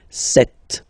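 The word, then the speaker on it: sept: Then here, remember, P is not pronounced. Okay, it doesn't exist, so you get this set sound.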